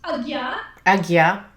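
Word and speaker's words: Ajna: Aya chakra A J na a which is pronounced Aya Aya chakra and that is uh translated in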